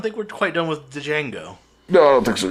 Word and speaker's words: Django: we're quite done with Django no I don't think so either and I like it's weird for me with d Jango like because the D is silent cuz I just like